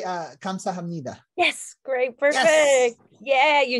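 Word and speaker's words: 감사합니다: and and wait how do you say uh kamsa hamnida yes great perfect yeah you nailed it yes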